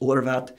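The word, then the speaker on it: Horváth: I'm Hungarian mm-hmm like my last name is Horvath and in Hungary that's pronounced Lord about and it's just like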